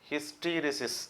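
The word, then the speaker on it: hysteresis: காந்த தயக்கம், அதாவது ஹிஸ்டெரிசிஸ். இதை பலவிதமாக ப்ரொனவுன்ஸ் பண்ணுறாங்க. ஹிஸ்டீரிசிஸ் அப்படிங்கிறாங்க யூஎஸ் இங்கிலீஷில், யூகே இங்கிலீஷில் வந்து ஹிஸ்டெரிசிஸ் அப்படின்னு சொல்கிறாங்க.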